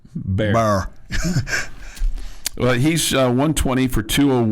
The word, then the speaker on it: Bear: It sounded like you said Barron, sorry. Oh, sorry, not Barron. Not Barron. Bear.